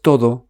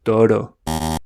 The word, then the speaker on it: todo: Many English speakers pronounce the D like a soft R. So instead of todo, they say toro. Instead of cada, they say cara.